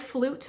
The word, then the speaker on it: Floot: So my flu balm, I spell it Floot. The T is silent, so it says flute, but our T is silent, so that's why we call it a flu balm.